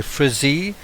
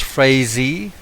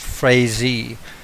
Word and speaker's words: Frazee: Um, I'm I would be more inclined to say Frisy, but I've been told by a journalist um I think with the Gazette that that he his name is pronounced Frezy and um other people um have said the same.